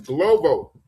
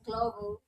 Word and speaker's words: Glovo: So, you know the app to use out here is Globo. Yeah, it's Glovo.